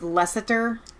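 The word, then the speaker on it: Leicester: better between us Seward the Brit says it's pronounced lessiter it's so difficult with those names Jim West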